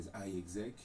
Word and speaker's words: iExec: du calcul est donc on peut le prononcer soit donc à l'anglais za exec ou bien à la française qui est exact pourquoi pas alors l'équipe